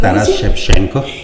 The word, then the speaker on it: Taras Shevchenko: Taras Shevchenko, corríjame doctor, Así ¿cómo es, se pronuncia? Taras Shevchenko.